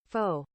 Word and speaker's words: faux: this video is the faux wood blind and yes that is how you say it I even Googled it faux I bet English class